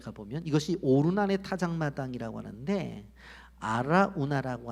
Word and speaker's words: 아라우나: 역다상 21장에 가보면 이것이 오르난의 타작마당이라고 하는데 아라우나라고 하는 것은 여부수식 이름이고, 아라우나는 바로 이 여부수식 이름이고, 오르나는 히브리식 발음이에요.